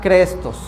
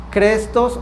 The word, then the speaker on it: chrestos: Se escribe chrestros y yo creo que se pronuncia crestos. C H R E S T O. crestos o chrestos, que quiero